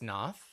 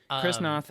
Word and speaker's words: Noth: of them is chris noth yes noth is that how you say his name yes not krisnoff and um george zunda